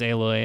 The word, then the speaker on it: Aloy: man Drew aloy yeah is that how you pronounce that name I've SE aloy this whole time it's aloy yeah oh I it's one it's one L yeah you idiot yeah